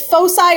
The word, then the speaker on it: foci: Yeah, it's foci or foci. I've heard it both ways from people that I know and trust.